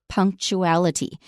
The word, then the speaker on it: punctuality: bit that word is punctuality note that it's spelled with a t u but we make a sound we pronounce it as CH punctuality number two fill